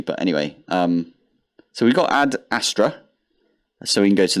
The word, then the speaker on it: Ad Astra: We've also got Ad Astara. Where is it? Here. Ad Astar. No, wait. Ad Astra. That's how you say it.